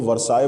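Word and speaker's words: Versailles: का नाम है वर्षा हालांकि स्पेलिंग जो है वह अलग मिलेगी लेकिन इसको वर्साय बोलते हैं तो वर्षाें एक जगह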